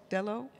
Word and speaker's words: Delo: Can you share with us from your own setting, how do I pronounce it, Delo? Delo?